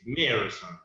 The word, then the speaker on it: Meerson: So you pronounce it as Meerson. Yeah. But just let's pretend that between these 2 E, Yes. there is Y. Okay. So my name is Meerson.